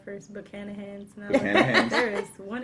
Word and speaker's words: Buchanan's: saying it right, Buchanan. I put like an extra H in there first. Buchanan's. No, Buchanan's.